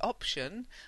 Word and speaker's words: option: And option, although it sounds like a C, it's not, it's a T.